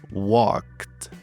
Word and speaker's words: walked: Tudo que você tem que fazer é ignorar o e. Não, você não vai pronunciá-lo. E o d terá um som de t. O verbo ficará assim: walked.